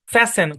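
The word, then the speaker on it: fasten: হবে আচ্ছা তারপর দেখেন শব্দের শব্দের শেষে এসটি এন থাকলে টি সাইলেন্ট মানে এস আর কি যেমন লিসেন নট লিসেন ফ্যাসেন ক্রিসেন বুঝছেন তারপরে দেখেন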